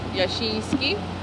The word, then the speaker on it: Jasiński: Krzysztof Jasiński y Edward Chudziński. No puedo pronunciarlos bien.